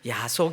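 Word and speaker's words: 耶穌: 성경에는 어떻게 기록되어 있었냐면 야소 기독이라고 야소 기도 야소라는 것은 그 중국식으로 이제 그 예수를 발음하면서 기록했더니 그게 이제 우리 우리 중 한자 발음으로 야소가 된 거죠 그래서 우리 한국교회 초기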